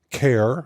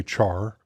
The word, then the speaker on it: char: the integer types include care CH r i pronounce it care different some people say Char int short int long